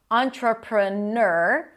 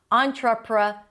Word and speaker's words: entrepreneur: ch sound, tra, pra, and then you have three options. Either ner, in my opinion, that's the easiest for someone just trying to learn this word, entrepreneur, and the second option is entrepreneur, or, as in tour, entrepreneur. And the third option is neur with a y sound before the or.